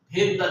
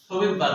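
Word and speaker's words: Svedberg: তাহলে আমরা কি বুঝলাম এই 70 এস হলো ভেদবার বিজ্ঞানী তাই না এই যে এস এস যারা বুঝায় ভেদবার এটাকে অনেকে শবেবার বলে মানে মানে উচ্চারণে আরকি শবেদবার বলে যদিও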